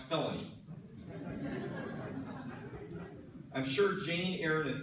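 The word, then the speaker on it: Phelony: sign of letters in it but yeah it's pronounced felony I'm sure Jane Aaron and felony will have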